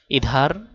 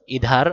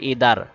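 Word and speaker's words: ادھر: দিতে সাহায্য করবে তার হা এর আগের শব্দের উচ্চারণ একটু বদলে দিবে ইধার এদিকে ইধার আগে ছিল ইদার দাল ছিল এখন ধা পড়তে হবে ইধার মানে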